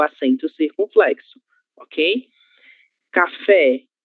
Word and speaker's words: café: Café, acento gráfico na letra E, o acento agudo. Logo, a sílaba tônica será fé, certo?